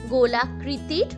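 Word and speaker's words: গোলোক: এই গোলক শব্দের অর্থ হলো যে কোনো গোলাকৃতির বস্তু অথবা যে কোনো গোলাকার বস্তু। এরপর দেখো আরো একটা শব্দ গয় ওকার লয় ওকার ক। এই শব্দটার উচ্চারণও কিন্তু গোলক অথচ এর অর্থ বা মানে আলাদা।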